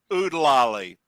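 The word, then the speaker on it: Oo-De-Lally: The next one I've got is from Robin Hood, and that is Oodalali, the opening theme from Robin Hood. Oodalali, dolly, golly, what a It's day. Oodalali. Oodalali. Not Oodalati.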